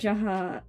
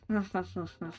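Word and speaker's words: jaja: I know it's ha. That's Spanish. But like my brain says J and like that's like yeah, ja. No, it's ha ha ha ha ha.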